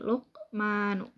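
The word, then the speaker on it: لُقْمَانُ: Nah, kemudian ada kata Luqmanu. Nah, di sini yang digaris bawahinya adalah huruf qaf. Nah, di sini dihukumi dengan qalqalah sugro atau qalqalah yang ada di pertengahan. Nah, kenapa disebut dengan qalqalah sugro? Karena huruf qalqalah qaf disukun dan posisinya di tengah kalimat. Nah, cara membacanya itu dipantulkan dengan ringan. Jadi Luqmanu.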